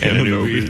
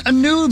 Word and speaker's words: Anunoby: OG Anunoby. Yeah. He makes $36 million. It's spelled OG. I'm sorry. His last name's Anunoby. Sorry, actually, it's Drew. Anunoby?